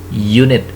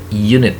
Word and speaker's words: unit: is foul letter right but when we pronounce it we use sound of ye unit unit that's so we use